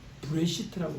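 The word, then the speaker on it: בראשית: 이 구약 성경이 쓰여진 히브리어에서는요, 브레시트라고 되어 있어요. 한번 다 같이 따라합시다. 브레시트. SH 발음입니다. 시트가 아니라 브레시트. 한번 따라합시다.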